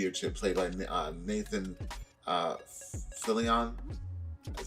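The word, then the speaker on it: Nathan Fillion: played by uh nathan uh phillian that's how you say his name philly on yeah nathan philian plays uh tdk and there's like an ongoing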